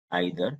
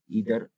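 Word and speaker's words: either: Distributive pronounce में normally 3 word ध्यान रखना है हमें, ईच, आइदर, इसे इधर भी पढ़ते हैं, नाइदर, नीदर भी पढ़ते हैं। सो एक्चुअली क्या करते हैं, ईच, ईदर, नीदर।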